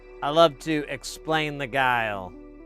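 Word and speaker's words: geil: Use a thumbs up and stay guile.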